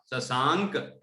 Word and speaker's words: शशांक: उस दानी है ना, तो बिंदी की तरह उच्चारण होगा शशांक, शशांक।